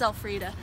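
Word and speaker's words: Elfriede: just tell you, it's Elfrida. That's right, it's spelled L-free-da. E-L-F-R-I-E-D-E. I don't like to talk about it that much, because it sounds like a very popular pasta. Alfredo, let's go.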